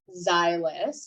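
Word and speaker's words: Zyliss: Okay, this is a one-handed can opener, and it's called Xylus. You spell it Zylliss.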